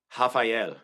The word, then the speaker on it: Rafael: Rafael is how you say that, because the R's are H's, you guys.